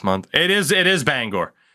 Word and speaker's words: Bangor: it is it is Bangor like the the meme is that it's pronounced Banger I have never heard anybody actually say Bangor Maine in my life though it is Bangor like that's it what's